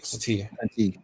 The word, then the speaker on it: Satine: Star Wars actor Katie Sackhoff wants Kate Blanchett to play the role of Bo-Katan's sister, Duchess Satan. I think I said it right. Satine.